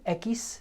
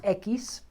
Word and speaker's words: equis: de papilloma umano okay rayosekis ekis that's how we pronounce x rayos equis resultado negativo falso so